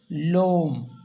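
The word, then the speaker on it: l'homme: ओ एम एम ई ओम तो इसलिए एच से स्टार्ट हो रहा है यह साइलेंट है यहां पर तो इसलिए हम क्या करेंगे ई को कट करके एस्टो प लगा देंगे तो यहां पर हम बोलेंगे लोम लोम मीस होता है द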